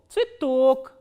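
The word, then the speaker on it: цветок: So, this ye will be pronounced as e, tsui and tok, tsitok.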